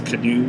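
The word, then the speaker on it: Caanoo: get the canoe the c-a-a-n-o-o that's how you pronounce it it's canoe it's a new uh a new system from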